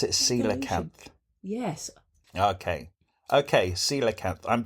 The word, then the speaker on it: coelacanth: probably the fish that developed into so you pronounce it coelacanth yes okay okay coelacanth I'm just gonna go